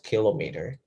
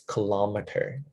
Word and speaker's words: kilometer: say kilometer but it it's not kilometer it's kilometer you can check it again it's kilometer because of the vowels because the vowels combine together there are three vowel four vowels in this word so the stress is different but gram 1000 gram